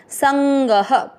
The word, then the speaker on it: संगः: ग में अ की मात्रा तो विसर्ग को पढ़ेंगे ह। संग।